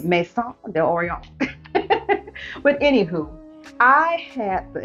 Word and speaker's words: Maison d'Orient: very well like me you can also say may Thunder Orient if you want to pronounce it that way but I like to say at the French way Maison De Oreo with anywho I had